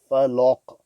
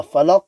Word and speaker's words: الفلق: So a common mistake, people would recite this as qul a'udhu bi rabbil falaq. The lam of the falaq and the lam of qul is pronounced full mouth.